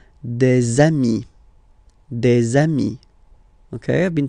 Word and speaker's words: des amis: okay, here, and then there is this little liaison, remember, it's been introduced in a previous lesson. You put this little link between the word des amis.